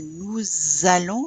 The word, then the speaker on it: nous allons: Okay, first thing I'll point out is the nous allons. Remember the Z sound whenever the S is followed by a vowel.